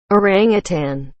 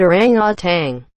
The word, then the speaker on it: orangutan: pronounce mature like manure orangutan almost everyone i meet pronounces it orang tang there is no g at the end of it i work at a